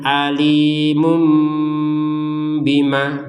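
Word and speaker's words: أَلِيمٌ بِمَا: Nah, di sini ada tanwin bertemu dengan ba. Adzabun alimum bima. Nah, kalau ini dibacanya bagaimana? Yang asalnya alimun. Perhatikan alimun bima. Ini kan jelas kalau dibaca alimun bima. Nah, sekarang yang mun di sini diganti menjadi mum. M U. Jadi bukan M un n.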